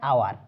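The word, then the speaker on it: hour: এর মতো হয় না, এইচ এর উচ্চারণটা এইচ এর মতো হয় না, তখন কি করব?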